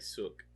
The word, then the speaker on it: Seok: Say it like Sook.